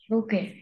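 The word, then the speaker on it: bouquet: আচ্ছা এটার নাম, এটা টি থাকলেও টি উচ্চারণ হবে না, উচ্চারণ হবে কি? বুকে, বুকে, রাইট? ফ্রেঞ্চ ওয়ার্ড বুকে, এটা এরকম হ, লাস্টটা হ উচ্চারণ, রাইট?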